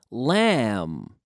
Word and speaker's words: lamb: city--the a quartet Oh lamb lamb lamb lamb SOS lamb if he hath a L a M B but the B is silent as mu though lamb